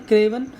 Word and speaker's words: craven: ये इसका प्रोनाउंसिएशन है क्रेवन।